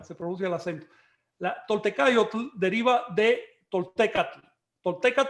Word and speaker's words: tolteca: la palabra y recuerden que las palabras en aguas de dos sílabas en adelante todas son llanas en si se pronuncian en la penúltima sílaba se producía el acento la tolteca yo deriva de toltecas